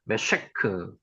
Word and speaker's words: 메섹: 메섹. 여기 쉬 발음이죠. 메셰크.